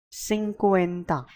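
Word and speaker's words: cincuenta: We'll move ahead and we'll see what these numbers are pronounced are called as. 50 is called as sinuena.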